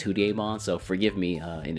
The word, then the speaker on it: Hudiemon: Also adding both their DPS to the Hudimons itself. Also throughout this entire video I'm going to say probably Hudimon or Hudon. It's because of the Japanese pronunciation is Hudon.